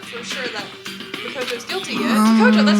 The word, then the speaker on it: Makoto: It's not for sure that Makoto's guilty yet.